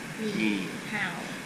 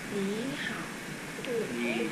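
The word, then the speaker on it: 你好: hay cho nên là nếu như mà hai cái này đều là hàm ba thì cái chữ phía trước nó sẽ biến thành thanh hai đọc là ni ni ni hào nó lên nó xuống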